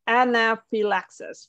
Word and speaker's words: anaphylaxis: the last one is a little tricky like pronounce it like slowly for me oh yeah so it's anaphylaxis right so Anna relaxes um pretty nasty B